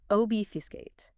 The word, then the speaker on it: obfuscate: Three syllables, stress on the first. Obfuscate.